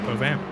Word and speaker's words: Povan: I mean, Jan and you said Povan, right? Am I pronouncing that right with Povan? Yeah, Povan.